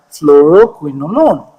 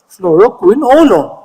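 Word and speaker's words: fluoroquinolone: I can practice myself floroquin alone not alone a l o n e not a l o n e alone like you are alone it's alone fluoro alone easy once you break it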